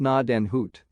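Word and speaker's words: Gnadenhütten: one of the forts 103 pronounced NAD and Hoot in order to March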